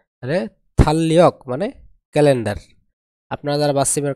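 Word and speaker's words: 달력: বাসি পর যদি রিউল থাকে তাহলে এই রিউলের উচ্চারণ হবে কি ল তাহলে কি দাঁড়ায় নিচে ল উপরে ল ল ল ল তাহলে থালিয়ক মানে ক্যালেন্ডার আপনারা যারা বাসীমের ক্লাস করেছেন তারা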